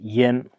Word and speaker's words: 烟: Yen, this character, of course, has many various pronunciations, yin or yin, but there's as a color, it's pronounced yen, yan hong.